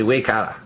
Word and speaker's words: Waikato: Anyways, they pronounce it down there, they probably say Waikata.